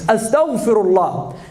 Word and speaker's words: astaghfirullah: It's not astaghfirullah. It doesn't say astaghfirullah. They can't pronounce the ghain. It's astaghfirullah.